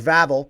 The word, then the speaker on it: Vavl: Uh, I heard his name is Vavl because he rides dirt bikes and he drives the dirt bikes in the gravel as described by him on how to say his name.